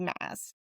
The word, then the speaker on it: Maas: No, she's going to be like, "It's not it's actually mass."